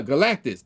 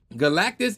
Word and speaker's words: Galactus: I can't talk why am I I cannot pronounce this dude's name for some OD reason uh galatis there it is like I don't know why I was struggling to pronounce his name Galactus and his enigmatic heral the silver suffer and